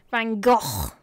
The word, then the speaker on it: Van Gogh: Van Gogh. There you go. For the Dutch pronunciation.